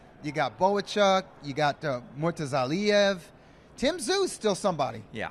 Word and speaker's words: Murtazaliev: These are guys like Murtazaliev. I know I didn't pronounce that correctly. Bakram. Yeah. No, but I think it's Murtazaliev. Yes. Yeah, that's how you say it. Yeah, the Lee.